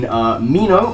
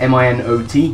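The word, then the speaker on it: Minot: Well, in my searches for information about nicknames, I happened across a restaurant in Mino, I think that's how you spell it, M-I-N-O-T, Mino, North Dakota, far away from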